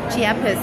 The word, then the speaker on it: Chiapas: But how do you pronounce this? It's Chiapas. Chiapas, yes.